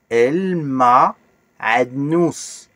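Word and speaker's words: معدنوس: El, ma, a, comme le bêlement du mouton, nous, el ma'adnous.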